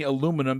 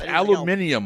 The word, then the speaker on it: aluminium: aluminum I try to I can't it's aluminium Mike say it right aluminium uh lead